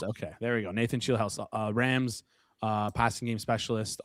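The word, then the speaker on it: Scheelhaase: Uh Nathan, probably pronouncing his name wrong here. Shel House. Okay, there we go. Nathan Shield House Rams uh passing game specialist, offensive assistant, um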